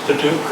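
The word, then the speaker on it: Padauk: So this is Paducah or paddock, however you'd like to pronounce it. I always pronounce it paddock.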